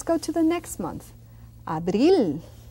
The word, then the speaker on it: abril: Abril. It's not a P like in English. It's abril with B.